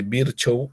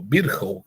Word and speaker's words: Virchow: Entonces, uno al examen clínico le busca el ganglio supraclavicular izquierdo, o ganglio de Virchow o Virchow, como se pronuncia, ¿no?